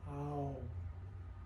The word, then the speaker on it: Om: oh and the correct the correct pronunciation is actually three syllables it starts with ah oh all together it's oh so we're going to